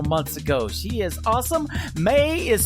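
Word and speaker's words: Mae: May is spelled M-A-E.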